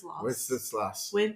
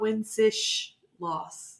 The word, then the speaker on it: Wenceslas: Wenceslas. Not Wensish loss. There's not a H in there.